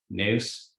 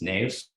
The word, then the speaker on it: Neus: She was like, hey, my name isn't Neus, it's Neus. And I was like, those are the exact same words.